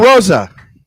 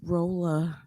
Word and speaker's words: Rolla: Is it Rolla or Rosa? It's Rolla. That's so interesting. The way you pronounce it with an L when it's either a Z or a.